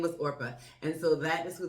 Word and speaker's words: Orpah: And I want to say Oprah. I want to say her name was Orpah. Her name was Orpah.